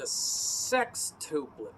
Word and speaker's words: sextuplet: But let's talk about a tuplet called the sextuplet.